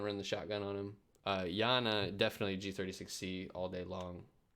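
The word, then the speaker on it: Iana: We have Yana, who is an attacker, and then Oryx, who is the defender. Yana, I guess as it's pronounced.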